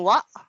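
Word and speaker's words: は: Then particle wa, although eto, wa ang bigkas ko, pero pag binasa natin niya, ha, yan po yun, di ba? Yung totoong basa niyan is ha. Pero ang basa dyan is wa po.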